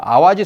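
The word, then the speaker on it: 淡路: 하라고 했다 그니까 담 노란 한자는 그대로 있는데 이것을 읽는 것을 갖다가 아 하지 라고 읽어야 된다는 거예요 아와지 섬 이다 여긴 아와지 섬 이지혜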